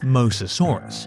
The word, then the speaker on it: Mosasaurus: Most Fearsome Reptile That Ever Existed The name Mosasaurus (pronounced MOE-zah-SORE-usis) is partly derived from the Latin word